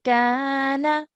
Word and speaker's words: كان: Now for this alif as well, this is an alif mud because the letter before carries a fatha. So we've stretched for 2 counts over here. Kana, like that.